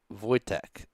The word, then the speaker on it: Wojtek: It's pronounced Wojtek. Oh yeah, that's right. Most of Polish doesn't actually say the W, right?